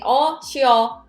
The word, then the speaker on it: 쉬어: It sounds like a one syllable, right? But it's actually 쉬어. It's two syllable. But a lot of times native will sound like a one syllable because it's so fast.